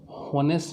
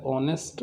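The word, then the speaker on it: honest: Riya mat with an ऑनेस्ट, अब इसे हॉनेस्ट नहीं पढ़ेंगे, एच साइलेंट है, तो ओ से शुरू हो रहा है ऑनेस्ट, तो ओ जो है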